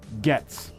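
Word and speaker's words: Goetz: Crew says it's pronounced Getz. So we went Gates and we went Goats. We were both wrong. We should have met in the middle. It's the old silent O.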